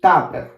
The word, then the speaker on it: tupper: Please don't forget the R sound here. It has to be a strong R sound.